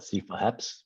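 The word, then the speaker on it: CityFHEPS: any problems next okay city pheps the h is silent so we've we don't call it some people call it cfa heps but we've just been calling it city fence it started in october 29th uh 2018.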